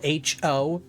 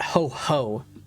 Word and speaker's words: Ho-Oh: People don't realize Ho-Oh is spelled H-O-O-H. It's not ho-ho like Santa Claus. It's Ho-Oh.